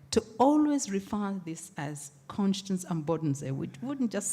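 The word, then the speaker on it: Konstanz: at the University of constance and if I wanted to use the way they pronounce it they say University of conscience they wouldn't say Constance and we got used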